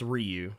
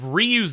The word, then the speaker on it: Ryu: if if his name if ryu's name was pronounced Ryu it would be r-a-i uh why you but I said no Ryu is something I said I don't know what the hell your kid's named after but it ain't due for Street Fighter yes I told her